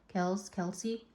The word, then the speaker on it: Kelce: We're going to talk about Taylor Swift and Travis Kelce. Is that how you pronounce it? Kelsey.